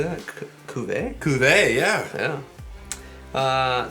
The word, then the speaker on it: Cuvée: Cuvée, yeah.